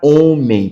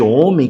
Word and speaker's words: homem: o homem, a palavra homem, por duas situações. Primeiro, pelo H, que ele é mudo. Nós chamamos ele de mudo porque ele não pronuncia nenhum som, ele é só um acompanhante.